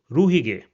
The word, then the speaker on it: ruhige: vowel, then it is pronounced as it is pronounced in English. For example, ruhige, which means peaceful, ruhige, or heilige, which means holy.